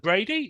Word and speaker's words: Bradi: y Sydney Australia well Brady is that how you pronounced your surname that is correct yeah um y